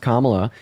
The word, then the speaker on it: Kamala: really done first of all her name is pronounced Kamala and then second of all she was more